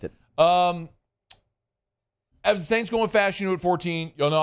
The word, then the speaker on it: Fashanu: Saw a press conference with our guy Olu pronouncing his name. Okay, so we have confirmation now. Fashanu. Not Fashanu. Fashanu. All right. From the source. He says Fashanu.